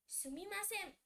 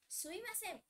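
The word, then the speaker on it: すみません: Sumimasen. Sumimasen. Some people also say it as suimasen. There is just a change in pronunciation, but while writing, you have to write it this way only.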